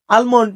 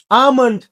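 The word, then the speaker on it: almond: না আমরা এটাকে বলি আলমন্ড নারে ভাই এটা আলমন্ড না এইযে এই জিনিসটা তাই না এইযে এটাকে আমরা বলব আমন্ড এই এল এর উচ্চারণটা নাই আমন্ড কাঠ বাদাম কাঠ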